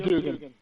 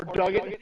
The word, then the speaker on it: Duggan: I've heard it pronounced both ways. I never say Dugan. It literally has been pronounced both ways, even by different announce teams. So I always said Duggan, but Dugan, it is a U in there, but Duggan, I don't know.